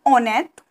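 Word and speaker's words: honnête: number four rishabh a on it okay rishab a on it which means we have we do not pronounce h h is a silent here so rishab a on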